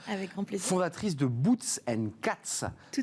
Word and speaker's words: Boots & Cats: On prononce Boots & Cats.